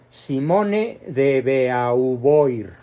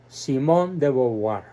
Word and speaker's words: Simone de Beauvoir: pronunciado se le llama Simón de boboa sin La era del final y además considerando que el vocablo e a u en francés se pronuncia o y el vocablo oi